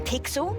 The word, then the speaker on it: Pixel: I'm Pixel. It's easy to remember because it rhymes with pic.